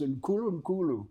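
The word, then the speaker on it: Nkulunkulu: It's Nkulu Nkulu. Nkulu Nkulu. Rhymes with Zulu.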